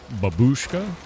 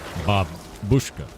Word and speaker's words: babushka: It's not babushka, it's babushka. Babushka. Is that what you mean? Babushka. Babushka. I don't know how to pronounce that. I'm American. We're bad at this. Stress is the birth part of the word.